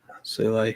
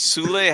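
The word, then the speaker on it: Soulé: I mean, it's most likely being that it's going to be that Juventus player, Sol, how we pronounce it. Sule.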